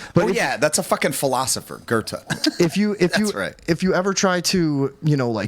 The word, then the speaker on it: Goethe: Yes, Goethe. Oh, is that how you say it? Yes. Sorry. Okay. But that's a fucking philosopher, Goethe.